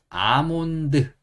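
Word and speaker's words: almond: 사람들이 왜 그런지 모르겠는데 여기다 L이라는 글자를 적어 놓고 요거는 소리 내지 않아요 예 소리 내지 않습니다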